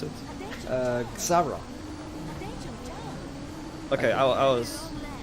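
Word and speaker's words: Xsara: can you help me out how to pronounce it? Xara.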